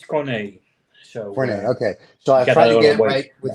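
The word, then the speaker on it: Corné: sorrows and but no, it's Corne, and many Americans and people abroad cannot find the accent on the E. So basically, on many websites, I just skip it because it's Right. superfluous. Gotcha. But it's Corne.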